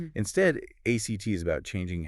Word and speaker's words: ACT: It's called acceptance and commitment therapy or act. And that's pronounced as one word, right? ACT.